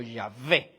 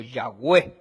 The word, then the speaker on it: Yahweh: Y probablemente se pronunciaba como Yahvé o Yahweh, ¿verdad?